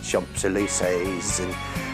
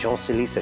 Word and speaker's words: Champs-Élysées: So we had a girl in who was a French person who was saying I was doing it like Champs-Élysées, and she said, no, it's Champs-Élysées.